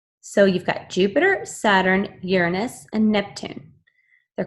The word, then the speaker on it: Uranus: remaining planets Jupiter Saturn Uranus that's pronounced Uranus I know boys say Uranus and Neptune okay these